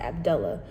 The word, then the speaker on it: Abdullah: And even the pronunciation, like, for example, the name in the U.S., Abdullah, a lot of people pronounce it Abdullah. Here, the name is pronounced Abdullah.